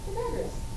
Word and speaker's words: Pythagoras: He's not Pythagoras. Who is he? Pythagoras. There he is. He's like toga and everything. That's how you say it. Pythagoras, right?